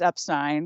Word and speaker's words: Epstein: now so great Point another shock on the tally of why it's Epstein because it is Epstein yes and anybody who